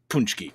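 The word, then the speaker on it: pączki: uh I'm glad you did Brandon this is pronounced punchki correct yes thank you I'm published I should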